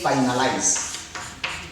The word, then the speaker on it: finalize: Because when we have IZE, we count 3 syllables. Okay? Then we put the stress on the 3rd syllable. For example, here, this is the first stress, okay? The 2nd stress, okay? The 3rd stress, which is 5, okay? Then we put the stress here. That's why you say, we pronounce it as finalize.